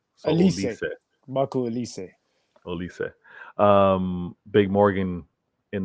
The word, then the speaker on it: Olise: Virtual reminds me that it's pronounced Olise. So Olise.